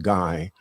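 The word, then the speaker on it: Gey: So you would pronounce it as in German guy.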